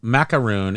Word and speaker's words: macaroon: that um uh ma macaroon is an American coconut treat macaron is the French cookie exactly so I knew